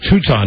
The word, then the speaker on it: Teuton: I don't know how to pronounce it. Teuton. Okay, Teuton.